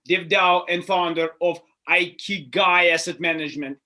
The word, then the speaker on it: Ikigai: It is, though, pronounced Ikigai. So I wanted to make sure the audience knows Ikigai Asset Management, and it's the Dev DAO, which